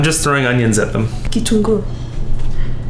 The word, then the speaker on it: kitunguu: Kitungu. Not Kitungu. Wait, Kitungu. Yeah, Kitungu. Yeah. So I do that because it reminds me that the emphasis goes.